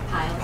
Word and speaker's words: Pyle: Pyle.